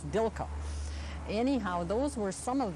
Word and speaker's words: Dilco: company maybe but anyway it says DICE which to when I pronounce that it's Dilka anyhow those were some